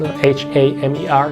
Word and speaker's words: Hamer: It's Dr. Hammer, I think it's pronounced Hamer in German.